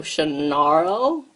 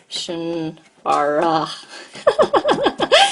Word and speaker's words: Shannara: Scotland, and the last bit was pronounced more like arrow, but ara, arrow. So Shannaro, no Shannara.